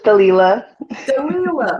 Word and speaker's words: Delilah: is it is it Delilah I believe you came up here before am I pronouncing your name correctly it's close it's Delilah oh I like that I